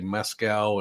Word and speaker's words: Moscow: state next door and I keep getting corrected on the way I say Moscow and Moscow and so uh I I'm trying anyway uh so it's really